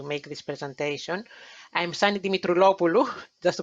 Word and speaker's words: Dimitroulopoulou: I'm Sani Dimitroulopoulou, just to pronounce my surname for you.